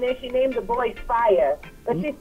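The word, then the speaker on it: Phyre: It's Fire. But I guess she didn't want to spell it the regular way, so to be unique, she spelled it P-H-Y-R-E.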